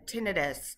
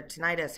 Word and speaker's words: tinnitus: We have tinnitus or tinnitus, however you want to pronounce it.